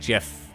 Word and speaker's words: GIF: I like GIF, like the peanut butter. It's a soft G.